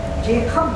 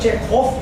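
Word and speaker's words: Чехов: इसीलिए क्या होता है, अक्सर आप लोगों ने देखा होगा कि चेखव वर्ड, चेखव जो है वो उसका असली प्रोनाउंसिएशन, लेकिन मैंने बहुत से लोगों को देखा है लोग उनको चेखोफ बोलते हैं, जबकि वह जो होता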